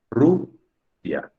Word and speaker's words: Rusia: Entonces, ¿es Rusia o es Rusia? Creo que está claro, ¿no? Es Rusia. La sílaba tónica es Ru.